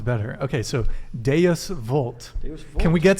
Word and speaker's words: Deus vult: All the moderns want to do it the German way, but you got to do it like a good Italian. How do you? Deus vult.